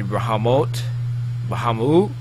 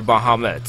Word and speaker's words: Bahamut: everybody yeah let's see the bahamot or Bahamut um American was born in English so I pronounce it Bahamut yeah I just love